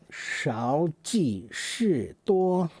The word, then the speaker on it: 少即是多: 少即是多.